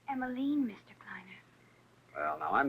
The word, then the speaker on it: Emmaline: night to be wandering out alone emiline it's emiline Mr Kleiner well now I'm not sure the